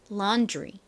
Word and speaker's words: laundry: 보면요 laundry laundry 됩니다 어이 뒤에 드 발음보다는 살짝 어떻게 발음이 나죠 laundry laundry 지우이 조금 섞여 있는듯한 그런 발음이 나죠 그 이유가 뭔가요 제가 전에도 설명을 드린 적이 있었는데요이 뒤에 바로 뒤에 이렇게 R이 나오면요 가 살짝 지이 한방울 섞인듯한 그러한 발음이 됩니다 자이 단어 함께 발음해